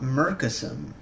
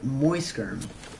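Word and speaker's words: Muyskerm: I also just recently learned that Bob's name of the Bob who's on Markiplier's channel, it's not Murkism. It's like Moiskerm or Moiskerm. Like, it's pronounced differently.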